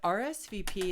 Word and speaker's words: RSVP: interesting about RSVP is it's not pronounced as a word it's pronounced as an acronym or an abbreviation so we always say